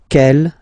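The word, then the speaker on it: quelle: is written like that q l l but it's pronounced like the masculine form Kell at the masculine Kell at the feminine okay so it's basically same pronunciation okay and then here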